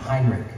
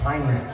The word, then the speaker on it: Heinrich: like the last full day of camp it's pronounced Heinrich I know it's spelled h-e-i-n-i-c-h it's Heinrich got it all right all right yeah all